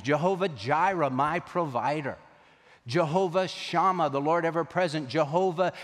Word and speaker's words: Jehovah: into Latin and then from the Latin they pronounce them with the German pronunciation so YH wh became jhvh and we know that name as Jehovah yahovah Jehovah and so